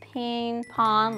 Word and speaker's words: Pinpon: n p 0 n pronounced ping-pong like ping-pong almost and I know you've